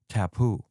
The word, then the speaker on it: tapu: The modern word taboo comes from a word from the Tonga language in Fiji, that part of the world. Tapu is how it was originally pronounced.